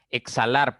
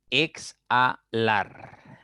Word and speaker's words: exhalar: ante la letra h se pronuncia como si fuese intervocálica aquí está exhalar por ejemplo ya ex a largo ex a largo listo